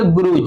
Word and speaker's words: grudge: गुरुज, यहाँ D silent रहता है, GRUDGE को क्या बोलेंगे? गुरुज।